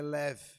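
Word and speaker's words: לב: Ela pronunciada é lev, lev.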